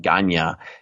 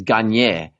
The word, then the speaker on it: Gagne: It's not Ganya, it's Gagne.